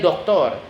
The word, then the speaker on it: doctor: For example, el doctor, which is the doctor in English. El actor, which is the actor in Spanish. Spanish words ending in or carry stress that last syllable on the last syllable.